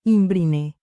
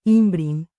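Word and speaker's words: ymbryne: parecía una nueva inbr lo pronunció Im brine es imin la corregí incapaz de contenerme la e es muda ya veo la doctora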